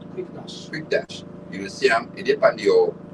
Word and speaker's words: Quickedash: Play Store, type in quick dash. It's spelled Q U I C K E D A S H. Quick dash.